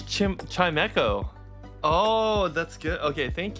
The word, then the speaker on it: Chimecho: Oh, it's Chimecho. Oh, that's good. Okay, thank you. Thanks, Potato. Chimecho.